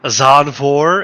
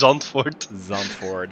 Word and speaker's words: Zandvoort: we pronounce it today i think the the english uh pronunciation is a azanfor as we always hear but uh the way we say it is zonfort yeah exactly so we're